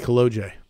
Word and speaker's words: Kolodziej: So the good part is after trying to say Kolodziej, and everything you've probably heard your entire life, you said, hey, it rhymes, OJ Kolodziej.